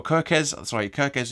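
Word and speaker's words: Kerkez: Now, Kurtz, I think you pronounce that, or Kirkes is the way you pronounce it, is also suspended for this game, and he is their very, very young left back.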